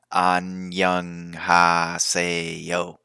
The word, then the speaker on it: annyeonghaseyo: Then you can say it with like it's one syllable, but it's Annyeonghaseyo.